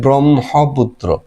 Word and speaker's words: ব্রহ্মপুত্র: একটা শব্দ লিখি আমি ক্ষমা এটাতে লিখি একটা ব্রহ্মপুত্র উচ্চারণে কিন্তু আবার এই যে হওয়ার কথা হ ম ব্রহ্মপুত্র কিন্তু হবে উচ্চারণ হবে ব্রহ্ম মহবুত্র আগে লিখতে হয় হ কিন্তু উচ্চারণ করতে হয়